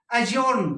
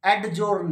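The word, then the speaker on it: adjourn: फिर है अजोर्न, court is अजोर्न होता है ना, तो अजोर्न, एडजोर्न नहीं।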